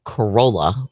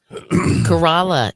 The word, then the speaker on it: Corolla: Corolla is That's a good way to put it. I always say Corolla is the town, Corolla is the car.